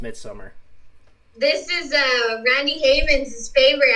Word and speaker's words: Midsommar: It's pronounced Midsummer.